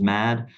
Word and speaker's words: MAHD: for Hardware development so it just naturally came out as mad um sometimes folks do want to pronounce it differently but but that's how we pronounce it and we appreciate that